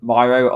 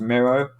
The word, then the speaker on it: Miro: this uh thing is called myro i think it's pronounced miro um but i'll send